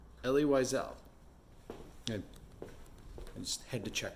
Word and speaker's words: Elie Wiesel: Elie Wiesel.